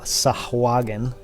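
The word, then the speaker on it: sahuagin: um by a uh and we can debate the pronunciation A Fish person a sahagan that's how I say it fish person uh and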